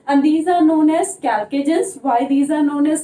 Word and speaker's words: chalcogens: These are also known as chalcogens, though the spelling start from C, but the pronunciation is chalcogens.